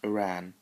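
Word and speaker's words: Ouran: High School Host Club, trust me, that's how it's pronounced, Uran, okay.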